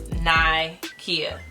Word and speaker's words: Nikea: People say Nikea, Nikea, Nikea. It's Nikea. And I tell people all the time it's Nike with an A.